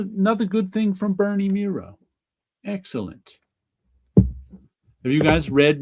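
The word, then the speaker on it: Mireault: I always thought it was Miralt. I had no idea. But it rhymes with zero. So it's Bernie Mero. So good. Another another good thing from Bernie Mero.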